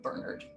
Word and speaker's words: Bernard: All of the Brits need to call him Bernard. That is the correct pronunciation.